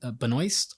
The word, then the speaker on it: Benoist: interest is played by Melissa B Benoist I believe is how her last name is pronounced I could be wrong uh fun fact